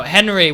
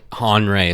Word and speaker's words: Henri: by a big broly dude named andre no henry with an eye no han ray is conrad that's how you pronounce it yeah what i say mm-hmm it's